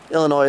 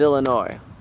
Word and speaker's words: Illinois: know we're in Iowa across the ways Wisconsin Illinois somewhere around here whatever okay so this apparently